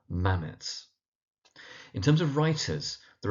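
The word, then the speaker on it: Mametz: So one of the poems is Mammothwood and that first word is pronounced mammoths with the emphasis on the first syllable mammoths.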